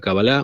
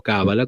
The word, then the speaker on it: Cábala: Bueno, hay 2 libros que son fundamentales en la concepción de la Kabbalah, o Cábala, como algunos quieren pronunciar, y estos son el libro de Bahir, Sefer Bahir, y el Sefer Zohar.